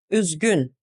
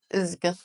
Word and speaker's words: Üzgün: Üzgün. Üzgün. Üzgün. Üzgün. Üzgün. Üzgün. This is a similar sound to the sound that is in the middle of the word few in English. Few.